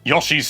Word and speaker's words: Yoshi: have to wait until Yoshi's Island DS before that Yoshi's story revealed in 1996 under the name Yoshi's Island 64 yes I pronounce it Yoshi not Yoshi everyone in the UK does that that is normal you are